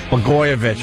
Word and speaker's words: Blagojevich: That governor in Illinois, Blagojevich. Blagojevich? Blagojevich, right.